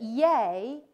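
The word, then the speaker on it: yea: a fon athetic element you might notice that yay also kept its pronunciation A rather than aligning to be e and we think that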